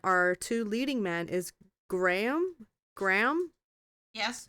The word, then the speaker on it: Graham: Geez, I'm not gonna pronounce his name right. Graham.